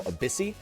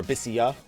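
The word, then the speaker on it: Abyssea: until the side scenario Abyssi, or Abyssia, whatever it ends up being called. I've heard both pronunciations.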